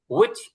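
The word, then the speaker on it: which: এরপরে এখানে দেখেন, স্যার কি উইচ বললেন না হুইচ বললেন? এটা আপনার উইচ, হুইচ হবে, উইচ। হুইচ। আচ্ছা, উইচ মানে এইচটা উচ্চারণে আসবে না, উইচ।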